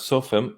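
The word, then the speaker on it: צופים: as lookouts around jerusalem this word is pronounced as sophem and being the plural form of lookout um the singular would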